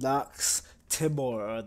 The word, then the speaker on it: Nox Timore: is Plexity, and welcome to a horror game called Nox Timore. That's how you pronounce it and shit.